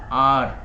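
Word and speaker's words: hour: कर रखा है, एन आर। यहाँ पर एच साइलेंट है इस वाले वर्ड में और हमारा जो साउंड बन गया वो ओ से बन गया, एन आर, एन आर।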